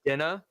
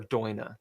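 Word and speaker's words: Daoine: So you can pronounce it a couple different ways. Most people say DaLune because that's what it looks like. You can say Dinna or Doina.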